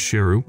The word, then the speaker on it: Sheru: As the movie is about to end, We are told that Saroo has been pronouncing his name incorrectly when his real name is Sheru, meaning lion.